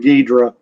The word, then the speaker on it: Ghidra: So I thought it was pronounced Ghidra, but I went on Google today and put the name in, and they say the Italian pronounced it Ghidra, just like you us gringos do. So we'll call him Ghidra.